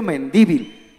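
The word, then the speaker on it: Mendívil: Mi apellido para todos ustedes, póngale acento en la primera I. Es Mendivil.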